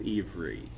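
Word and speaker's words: עברית: of their language like the hebrew pronunciation of hebrew is ivory it doesn't sound a whole lot like the english word hebrew but that's what it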